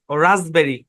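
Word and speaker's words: raspberry: এটা আর হ্যাঁ তো এখানে পিটা সাইলেন্ট এ শব্দের উচ্চারণ হচ্ছে রাসবেরি এখানে এস টা জেড এর মত সাউন্ড দিবে ডিরেক্ট মাথায় ঢুকায় ফেলান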